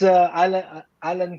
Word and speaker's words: Alan: It's Alan Kamba po. Alan. But they Alan, pronounce, yeah, Alan.